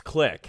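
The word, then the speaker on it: Clique: Or no, it's Click. It's spelled like a high school click, but it essentially clicks for you when you hover over a health bar. Hence why it's called Click.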